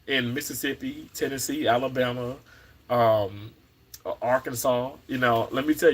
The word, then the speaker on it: Arkansas: I used to say Arkansas okay CU you know I'm Mississippi but you know as I as I've grown I know that that s is silent but thank you so